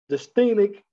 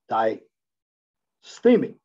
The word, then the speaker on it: dysthymic: depressive disorder, it used to be known as dysthymic disorder. That's how you pronounce it. I apologize if I didn't pronounce it right when I viewed the word a while back in this presentation. It's dysthymic disorder.